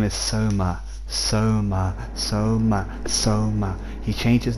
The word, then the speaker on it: Soma: stop calling him i'm his name is soma say it right so ma so ma please initiate